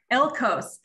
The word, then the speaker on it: Echols: out and i'm so excited we have eckles and i don't know if i'm saying your last name correctly yeah close pretty close how do you say it alcost elcos okay elkos is the district nurse that